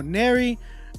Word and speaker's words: Ner: It's pronounced like Mary with the N. Thank you for letting me know. Ner.